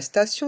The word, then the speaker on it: station: stade le stade la station de métro la station de métro dans le mot station le son i o n pour le son ion station et le T